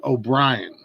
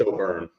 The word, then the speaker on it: O'Byrne: the start Mr o'brienan and I hope that's how you pronounce your last name a little tiny bit off but uh people get it pronounced right it's O bur o bur okay it's all good